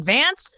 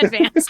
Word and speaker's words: Edvance: say FAFSA wrong, but I've been saying Granite Edvance instead of like Granite. What is it? Granite Advance. Advance, no, yeah. Advance. I'm putting the wrong emphasis on the wrong syllable.